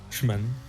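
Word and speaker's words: Szymon: Got Franz, Zorf, Siziman, is that how you pronounce it? Shimon, or can you call me Simon? Just read the C and Z as S and H. Shman.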